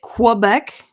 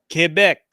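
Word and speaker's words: Québec: Did you just pronounce it Quebec? Quebec, sorry.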